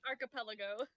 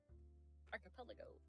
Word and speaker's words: archipelago: I get a pass it's archipelago like a pelican archipelago archipelago I think I think it's